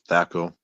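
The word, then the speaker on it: THAC0: So does it use And then we Thaco?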